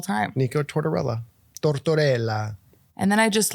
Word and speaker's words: Nico Tortorella: let's talk about it I always thought in my mind I was like Nik torella like I was just saying it I was like I'm for sure saying it wrong but it's not I'm saying it right the whole time Nik torella torella